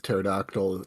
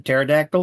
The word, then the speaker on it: pterodactyl: if you do the silent P like with pterodactyl, Pterodon sounds like a good fantasy creature name.